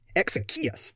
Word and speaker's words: Exekias: Exekias, that's how it's pronounced.